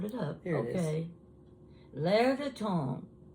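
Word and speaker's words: L'Air du Temps: L'air de temps. Now, it's French, and it's spelled different than what it sounds.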